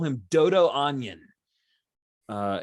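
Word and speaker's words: Anyn: to call him dodo onion uh it's a-n-y-n but if you want to say it like onion that is totally cool with me um let's let's see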